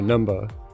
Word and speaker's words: Numbuh: It gets even better when you realize the spelling for Numba is spelled exactly how they say it with the UH at the end.